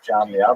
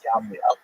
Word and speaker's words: Jamnia: So the Roman term for Yavne is Yamnia, sometimes spelled with a J, pronounced Jamnia, but really it's Yamnia.